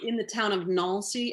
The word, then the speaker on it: Nancy: um it it's it's in the town of nalcy n-a-n-c-y like nancy but it's pronounced nalcy um near luxembourg and belgium um in france